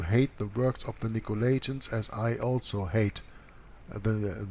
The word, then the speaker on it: Nicolaitans: this is a little bit different writing about Nicolaitans is the way that you pronounce this we can read off that of